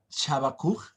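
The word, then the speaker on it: חבקוק: La palabra Habacuc, del hebreo Shabakuk, así se pronunciaba, significa abrazo.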